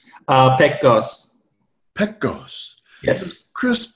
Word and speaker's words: Pekgoz: Pekgoz.